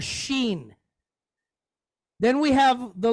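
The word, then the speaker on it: ש: it like an S if it has one on the right we pronounce it like an sh so so we have the letter Sheen then we have the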